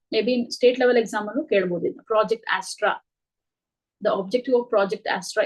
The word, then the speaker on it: Astra: on to uh project Astra I think it is pronounced as that only it is not asra if I'm not wrong Astra